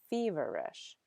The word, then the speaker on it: feverish: You'll see the accent on the first syllable. That's where the stress is, feverish.